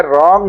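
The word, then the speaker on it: wrong: रॉन्ग में W silent है।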